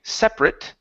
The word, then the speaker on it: separate: Okay, if we're saying separate, okay, the separate devices as an adjective, the stress is still at the beginning separate, but we pronounce the a t like an i sound. Separate. Okay, that would be the adjective.